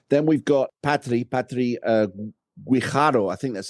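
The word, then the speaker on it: Guijarro: Patri Guardo, I think that's how you pronounce her name. Yeah, Gharo.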